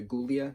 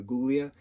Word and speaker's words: Guglia: And I remember specifically, we always kept it as a silent G to keep it Julia Guglia, not Julia Guglia.